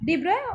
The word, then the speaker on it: de Broglie: His full name is Louis Victor de Broglie. Okay, de Broglie, or you may pronounce it as de Broglie.